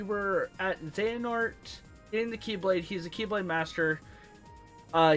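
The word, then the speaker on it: χ-blade: that's was an X it's called The X blade but it's pronounced keyblade not to be confused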